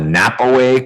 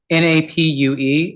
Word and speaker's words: Napue: We also have how the state needs to respond to, you call it a NAPAWay claim? NAPUE is about the state providing. Oh, I didn't know that's how you pronounced, okay.